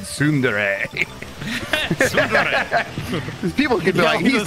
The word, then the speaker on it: tsundere: Is that Sundere.